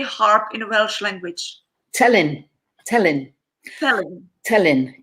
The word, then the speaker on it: Telyn: Telyn. Telyn. Telyn. T-E-L-Y-N. Telyn. Yeah. Telyn. We don't know where there's a lovely little anecdote or explanation maybe of the name. Telyn doesn't seem to ring any names.